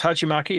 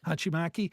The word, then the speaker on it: hachimaki: that's kind of a thing that uh uh hachimaki am I pronouncing that correctly Jim yeah pretty close hachimaki yeah hachimaki anyway and uh you know of course uh